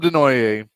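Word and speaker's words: Desnoyers: Caleb Denoier uh could go to the Mammoth at four.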